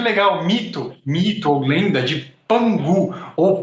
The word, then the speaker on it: Pangu: Mito ou lenda de Pangu, ou Panku, como se escreve em algum lugar. P-A-N-K-U, separado, né? Panku. Mas o Ku, para nós, é G na China, né? Então, às vezes você encontra como Pangu, porque a pronúncia do